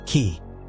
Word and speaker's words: Ki: this life essence or Ki pronounced key is instantly added to